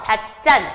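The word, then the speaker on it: 찻잔: 자 플러스 장 얘 어떻게 발음해요? 자잔이라고 발음하죠. 자짠. 자짠. 자짠.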